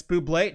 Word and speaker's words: Bublé: Or bubble, however you want to pronounce it. Ham and bubbly. Yeah. One of the greatest SNL skits of all time. Oh, yeah. John Hamm and Michael Bubbly. It's Bublé, not anymore.